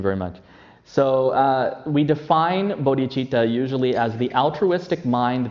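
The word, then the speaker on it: bodhicitta: how we spell it in English but we pronounce it bodhichitta okay so we define bodhichitta I'm sorry actually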